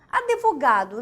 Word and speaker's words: advogado: Advogado. Olha lá. Nossa, eu preciso falar com o advogado. Advogado, né? Aliás, existe esse E? Não. Então, esse E, ele acaba sendo pronunciado e você comete barbarismo.